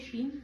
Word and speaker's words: श्रीं: ऊपर डॉट होता है, आखिरी में उसका उच्चारण म, जो अंग वाला होता है, जो भी बीज मंत्र है उसमें अंग का उच्चारण होता है।